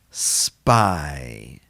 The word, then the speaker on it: spy: Spy, spy. You'd almost want to spell this S-P-I, right? But in English, it's spelled S-P-Y. That gives us the long I sound.